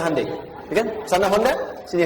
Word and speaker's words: Hyundai: Kita bisa kita dari tekad sehingga ketika di sana bikin Honda sini Hande Hyundai kan dibacanya Handai ya kan sana Honda